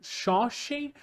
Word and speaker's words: Seanchan: consigo me acostumar com a pronúncia correta do nome deles então acaba o pronunciando o nome deles como se acham mesmo como se eu tivesse lendo a palavra em português mas quem são eles